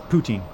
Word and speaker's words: poutine: You don't emphasize the ooh, you say it as fast as poutine. So you say it like you're saying Putin.